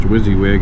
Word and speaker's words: WYSIWYG: forget the acronym but pronounced wizzy wig and what it stood